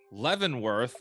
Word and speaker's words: Lenworth: table introduce everybody else let's start with lenworth is that how I should pronounce it yes yes it is Le go ahead and